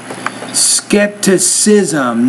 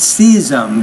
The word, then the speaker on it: skepticism: His continued skepticism, however, Skepticism, not schism, but skepticism. His continued skepticism, however, shaped